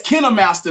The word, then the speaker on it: KineMaster: No, that KindMaster. They say it's KineMaster though. They said that's how it's pronounced, but that's if I'm editing.